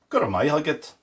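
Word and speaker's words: go raibh maith agat: And finally, then after saying, tá me gabra, I said, Guramai Hugget.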